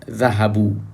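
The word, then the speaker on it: ذهبوا: Note that there is an alif at the end of the word dhahabu. Dhahabu means they went. So this alif is not pronounced, it's extra.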